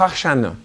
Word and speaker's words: Hoshana: « Seigneur, sauve-nous » ça a l'air, moi qui ne parle pas l'hébreu, que si on prononce cette phrase-là, c'est dire Hoshana.